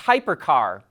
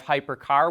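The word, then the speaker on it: Hipercar: revealed its first ev its name looks like hipper car which stands for high performance carbon reduction but we think it's pronounced hypercar it comes in either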